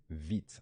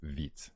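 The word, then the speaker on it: Vite: Built tool today is vids I know it's a bit weird we pronounced that vid it's the word is vit it's a fast I mean quick in French so it's with a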